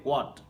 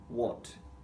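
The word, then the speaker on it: what: এটার উচ্চারণটা আমাদের করতে হবে ওয়াট। ওকে? এখানে হ এর মত উচ্চারণটা হবে না।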